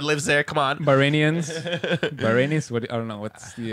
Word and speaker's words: Bahrain: You gotta say it with an accent. Bahrain. That's how you say it.